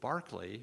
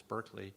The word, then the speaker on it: Berkeley: live in a city named in honor of bishop barkley which we now pronounce berkeley who is immortalized in